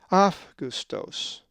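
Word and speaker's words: Αὔγουστος: If you said Augustos, you are correct, for the accent is over the epsilon in the alpha epsilon diphthong. Augustos. So therefore the diphthong alpha epsilon always has the off sound.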